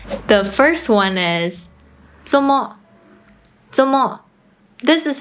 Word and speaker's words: 做麼: The first one is 做麼 (zomo) This is how they usually pronounce it: “zomo" 做麼 expresses the meaning of “做什麼 doing what” or “為什麼 why”.